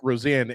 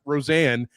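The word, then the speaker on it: Rosén: And I said, "This guy's name looks like Isaac Rosen, but it's pronounced Isach Rosanne."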